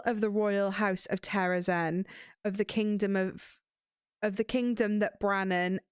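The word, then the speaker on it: Terrasen: Terrazan or Terrazen? Zan. Me too, I say Terrazan, but it's definitely Terrazen.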